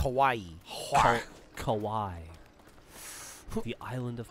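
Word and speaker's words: Kauaʻi: some caves in Kawai and snorkel snorkel it's pronounced Hawaii Kawai the island of Kawai oh wait for me all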